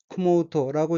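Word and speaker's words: 汲もうと: 우선 빨간색 줄친 부분을 보면 첫째 줄 첫 번째 어귀는 한자가 물기를 급자이고 일본어로는 쿠모우토라고 읽으며 쿠모우토는 푸다, 퍼올리다, 깃다 및 사상계통 등을 이어받다는 뜻의 타동사 쿠무의 의지형으로 쿠모우토는 기르려고 란 뜻입니다.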